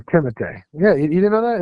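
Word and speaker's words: Timothée: um Timothy Shalamé and Lil his name is Timote. What? Name Timote. Yeah, you didn't know that his name is Timote.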